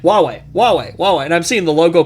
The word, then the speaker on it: Huawei: For the longest time, I thought it was pronounced Hawaii. It is kind of spelled like that. I know! That's how I looked at it. I was like, Hawaii! Oh, wait. And then I started watching all these tech channels, and they're like, Huawei.